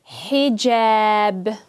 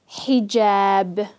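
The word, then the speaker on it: حجاب: The ha has a kasra, so it's going to be he, hijab, hijab.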